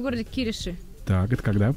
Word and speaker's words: Кириши: А, да, еще в городе Кириши. Так, это когда? Я же правильно произношу? Кириши, по-моему. Кириши.